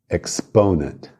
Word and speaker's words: exponent: E exponent, a força tônica é no PO, no ponent, exponent.